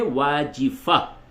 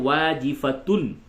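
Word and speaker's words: واجفة: سے آواز نکلنی، یومئذ واجفہ، واو الف زبر وا، جیم زیر جی، واجی، فا زبر فا، واجفہ، تا دو پیش تن، واجفتن، حالت وقف میں واجفہ، اور ملا کے پڑھیں گے تو واجفتن۔ قلوب یومئذ واجفہ۔ آگے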